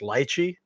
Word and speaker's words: lychee: on multiple occasions, is what most people call lychee. I think it's actually very properly pronounced lychee, but anyway, that it's a very typical Asian fruit.